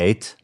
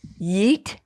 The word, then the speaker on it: yeet: Oh, Okay, well, first of all, you said it wrong. It's not What? Yate. Yeet? Yes, Yeet.